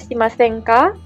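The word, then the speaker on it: しませんか: shimasen-ka isyoni artinya bersama-sama di sini ada call diucapkan dengan intonasi naik ya untuk bertanya jadi iseng nih jogging go shimasen-ka Maukah jogging bersama-sama jadi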